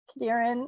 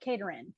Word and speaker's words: Kadaran: say the names because I clearly was mispronouncing kadaran I was saying and my head I had it I I was like caterin so I'm sorry I